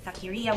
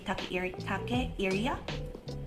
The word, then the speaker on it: Takeyria: character persona, which is Takiria, which is okay, now I keep saying Takiria when it is supposed to be Takeiria.